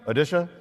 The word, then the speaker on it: Odisha: is the state of odisha not one that you normally hear about but what's the pronunciation now odisha odisha right we used to call it orisa when we were young